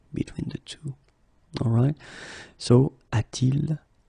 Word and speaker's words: a-t-il: Alright, so il a should become a-il, but then it doesn't sound nice, so it's a-t-il.